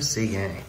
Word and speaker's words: Seguin: As well as the Knitsoff rookie and the all-star of Tyler Seguin. Another guy pronounced in the French manner.